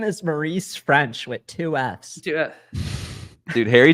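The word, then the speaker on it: Ffrench: is the other one French Maurice French with two FS the first f is silent and the first F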